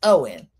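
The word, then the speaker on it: Eoin: It's pronounced Owen.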